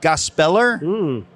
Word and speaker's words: Gospeler: Well, how do you pronounce it? Gospeler? Like propeller? Yeah. But it's the word gospel and ER.